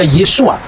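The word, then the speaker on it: Yeshua: membaca e nama Yesus ketika dia orang Yahudi dia pasti membaca yesua yang percaya bahwa Yesus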